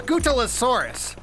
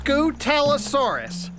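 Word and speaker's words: Scutellosaurus: My name is Scootalosaurus. That's Scootalosaurus.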